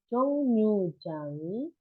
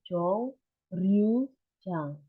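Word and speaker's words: 정류장: Bose Jongnyujangi. Nah, ini bacanya Jongnyujang ya, bukan Jong. Memang tulisannya itu Jongryujang. Tapi karena huruf il ketemu real, jadi dia lenyap gitu bunyinya. Jadi Jongnyu. Jadi NYU bacanya itu Nyu.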